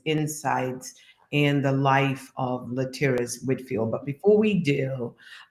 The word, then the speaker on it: Laterras: It's my distinct pleasure to introduce to you Laterras Whitfield. I'm sure people pronounce his name and has all kinds of pronunciation, but Laterras is the right one, Laterras Whitfield.